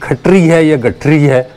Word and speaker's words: Gor Khatri: of Archeology and Ethnology, Gor Khatri Now it is Khatri or Gor Khuttree because in Urdu it is pronounced Khatri but in English it is written Khuttree It was inaugurated by